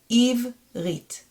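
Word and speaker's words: עברית: So if I'm going to read the entire word, it's going to be eve, stop sign, rit. Eve, rit, which means Hebrew.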